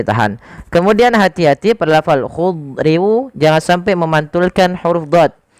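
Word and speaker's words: خضر: Memasukkan tanwin kepada huruf waw sehingga bukan lagi dibaca khudrin wa abqari tapi khudriu sambil ditahan dengan gunnah sepanjang 2 harokat.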